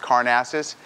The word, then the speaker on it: Karnazes: very glamorous introduction and my last name is pronounced carnassus but I mutilate it